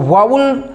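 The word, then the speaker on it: vowel: बहुत से हैं जो उसे वोवेल्स बोलते हैं, वोवेल्स सही उच्चारण नहीं है दोस्तों।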